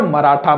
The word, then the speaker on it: मराठा: मराठा। मतलब जो ह है वो साइलेंट हो गया।